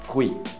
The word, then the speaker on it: fruit: nem de, é de, fruit, fruit, não pronuncia nem o T, nem o S no final, fruit.